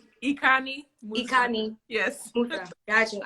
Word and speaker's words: Ikanih-Musa: Ikanih-Musa. Ikanih. Yes. Musa. Got you. I'm so sorry. I have people say my name wrong, so I really do apologize.